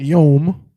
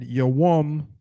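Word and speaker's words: יום: Right, and not yom. Notice the brother did not say yom. That would have been incorrect. Right? He said yawam because that is the proper word.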